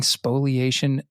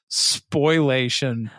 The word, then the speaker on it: spoliation: of due process now are we pronouncing spoliation because as I was reading it I was telling myself it was spoilation and that's how I was spelling it right like I when I'm typing away I'm like s p o i l a t i o n and it's like nope it's spoliation and I'm like but is it pronounced spoliation I have no idea I really don't all